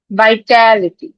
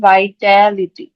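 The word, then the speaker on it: vitality: তো 28 নাম্বার এটা দেখি বাইটালিটি এটা একটা নাউন এটা উচ্চারণ হবে এ নিয় থেকে নিজেরা নিজের উচ্চারণ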